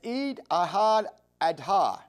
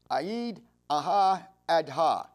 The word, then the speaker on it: Eid al-Adha: and then they did animal sacrifice known as Eid al-Adha. And I hope I'm pronouncing that correct. It's EID-AI-ADHA. Eid al-Adha.